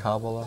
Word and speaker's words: Kabbalah: The Kabbalah you talk about in the book, the Jewish Kabbalah? Right. Is that the right pronunciation?